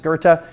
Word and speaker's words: Goethe: The penthouse at 65 East Goethe, yes, that's how you pronounce it, traded for $9.3 million.